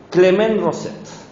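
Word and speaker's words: Clément Rosset: Hoy nos toca Clement Rosette, si lo queremos pronunciar bien, pero no, yo lo castellanizo.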